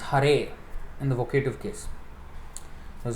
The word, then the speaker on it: Hare: he steals our attention which in the vocative case is pronounced hare in the vocative case